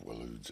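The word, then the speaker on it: Waloed: Benedicta Harmon, commander of Walood's elite intelligences.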